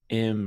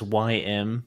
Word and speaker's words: Ym: You said like M or something like that. It's the the name is YM, just the letters YM.